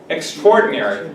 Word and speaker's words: extraordinary: Extraordinary. But first, remember this, the way you pronounce it. We don't say extraordinary, we say extraordinary.